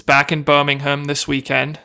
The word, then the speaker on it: Birmingham: away it's back in Birmingham this weekend it's Birmingham sorry I'm not going to pronounce it like the Americans do Birmingham the people in England would call it Birmingham but the interesting event